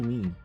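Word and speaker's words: Mie: Like, I think that they pronounce it me, just M-I-E, me.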